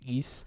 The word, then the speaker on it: Ys: Because I bought all the East games, it says YS, but it's pronounced East.